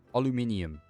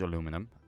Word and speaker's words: aluminium: Aluminium. That's what we call it, which is aluminium, but pronounced Dutch. Um, we could use aluminum.